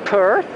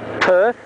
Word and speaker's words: Perth: where else earth not perth again it goes back to the ours rule don't pronounce the r's unless they're at the start of a word otherwise that would really